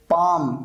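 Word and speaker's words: palm: अब यहां पर देखिए आवर, यहां पर एच साइलेंट है, पाम यानी हथेली, यहां पर एल साइलेंट है, लिसन यहां पर टी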